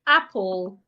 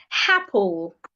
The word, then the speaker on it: apple: So there is no H in apple. Make sure you're not adding the sound of H.